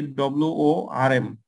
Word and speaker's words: warm: environmental temperature this is warm blooded and cold blooded means their internal body temperature varied according to the environmental temperature. Warm blooded, pronunciation will be WORM. WARM, warm blooded.